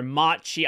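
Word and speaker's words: Omarchy: Now, there are a lot of distros, Bazite to some extent being one of them, like CacheOS, PicoOS, Nabara, Omaki, or Omachi, apparently is how you say it, where I would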